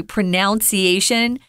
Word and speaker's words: pronunciation: I hear a lot of people, even Americans, will occasionally say pronunciation. That is incorrect. Wrong. So listen, pronunciation, pronoun, not pronoun. Pronunciation.